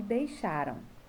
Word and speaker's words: deixaram: Encontraram, levaram e deixaram. E aí, a sílaba tônica, que é a sílaba mais forte, é a penúltima, ó.